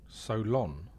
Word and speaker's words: Solon: So what is the correctly pronounced name? He's saying it close. It's actually Solon. Solon?